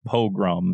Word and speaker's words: pogrom: what is what uh dilbert in the chat says it's pronounced pogrom so i think i